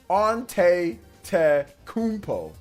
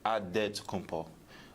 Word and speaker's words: Antetokounmpo: Way you gotta say with a D, so it's Antetokounmpo, but in the Greek way you say with an NT, like Antetokounmpo.